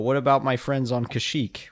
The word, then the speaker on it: Kashyyyk: about my friends on Kashyyyk or Kazuk, depending on how you choose to pronounce that? I'm sorry, Kazuk? Yeah, that's apparently how it was supposed to be pronounced, according to a source.